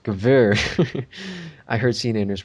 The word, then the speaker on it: Gewehr: A Jewer. No, it is pronounced Gewehr.